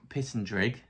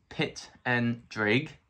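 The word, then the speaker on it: Pittendrigh: my name is Pitt andrig and that's pit and Drake and it rhymes with Pig lots of people can't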